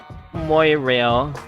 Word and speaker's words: Moirail: Honestly, if this didn't come from ancient Greek directly, but through ancient Greek through Latin, it would be pronounced Mirail. Yeah.